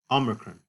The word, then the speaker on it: omicron: And so this short o sound, omicron, is like the short o sound in got or pot, ah. Notice it's not o, but ah.